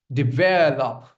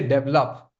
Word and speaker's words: develop: Next, we have develop. Don't say develop. I know. I know a lot of you, you know, would have been pronouncing it incorrectly, but the correct pronunciation is develop.